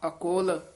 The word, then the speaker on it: अकुल: हाँ, अकुल इसी तरह ही उच्चारण करना, कुल नहीं कहना, अकुल नहीं चेतया।